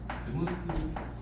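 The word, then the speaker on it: smooth: 스무스 맞습니까? 제가 영어를 몰라도 필요한 건 다 알아요. 함수가 A에서 스무스하다. 번데기 발음이에요. 스무스.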